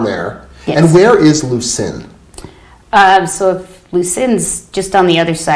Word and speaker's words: Lucin: Lucin, is that how you say it? Yeah, well, that's where his farm is.